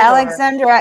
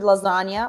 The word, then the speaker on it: Lxandra: no is there a cool pronunciation that I could do with it or Alexandra is perfect. Or sometimes Lxandra or whatever. Yeah, that's perfect. But I've also heard lasagna, which is not right.